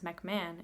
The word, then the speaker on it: MacMahon: I guess that's how his last name would be pronounced, as MacMahon.